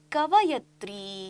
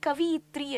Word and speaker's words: ಕವಯತ್ರಿ: ಸಾಹಿತಿ ನೋಡಿ ಮಕ್ಕಳೇ ಇಲ್ಲಿ ಕವಯತ್ರಿ ಅಂತ ಕೊಟ್ಟಿದೀನಿ ಅಂದ್ರೆ ಕವಿ ಅಂತ ಹೇಳಿ ನೀವು ಪುಲ್ಲಿಂಗದಲ್ಲಿ ನೋಡಿದ್ರೆ ಕವಯತ್ರಿ ಅನ್ನೋದು ಏನಾಗುತ್ತೆ ಆಗುತ್ತೆ ಅಂತ ಹೇಳಿದ್ರೆ ಸ್ತ್ರೀಲಿಂಗದಲ್ಲಿ ಹೇಳ್ತೀವಿ ಕೆಲವೊಂದು ಸತಿ ಇದನ್ನ ಕವಿಯತ್ರಿ ಅಂತ ಬಳಸುತ್ತಾರೆ ಆದರೆ ಸರಿಯಾದ ಉಚ್ಚಾರ ಕವಯತ್ರಿ ಅಂತ ಬಳಸಬೇಕು ಇವರು ಎಲ್ಲಪ್ಪ ಜನಿಸಿದರು ಅಂದ್ರೆ